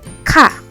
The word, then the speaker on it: K: Then K is pronounced Ka. Ka. Imagine that you're trying to say car, but without the R.